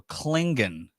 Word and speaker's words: Clingan: Clingan or uh cling how do you say it like cing on but it's c l i n g n so Clingan just say it fast and nobody will call